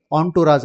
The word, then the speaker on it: entourage: ಆಂಟುರಾಜ್, ಇದನ್ನು ENTOURAGE ಅಂತ ಬರೆದ್ರು ಕೂಡ ಉಚ್ಚಾರಣೆ ಮಾಡೋದು ಯಾವ ರೀತಿ? ಆಂಟುರಾಜ್ ಅಂತ ಉಚ್ಚಾರಣೆ ಮಾಡ್ತಾರೆ.